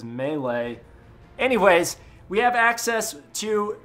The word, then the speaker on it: melee: SE a melee section some people pronounce it m but I've always been taught it was melee anyways we have access